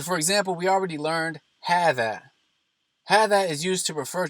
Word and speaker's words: هذا: Both هذا and هذه are pronounced as if there is an aleph after the ha. However, that aleph is omitted in writing.